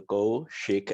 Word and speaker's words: Kaushik: So yeah, my name is Kaushik. It's two-syllable Kaushik, and I graduated from University of Utah actually in 2010.